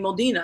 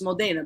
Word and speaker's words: Modena: right Rena thank you no because I've been saying it wrong I've been saying Modina and she's right it's Modena because it's in e which is an a sound and just a little